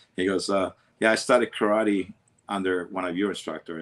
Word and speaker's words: karate: So, how can you not teach karate? You signed my black belt from Japan and everything else. He goes, I don't teach karate. I teach karate. Karate. That's how it's pronounced.